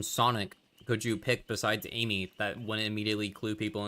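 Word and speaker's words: Ameigh: See, some of the worst names someone named their kid Amy, but it's spelled A M E I G H.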